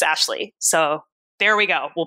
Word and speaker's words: Ashleigh: for the record everybody my name is not here's how you can